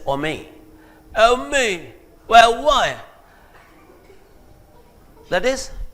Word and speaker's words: homie: So, but they don't pronounce it as homie and all that. They just say ome.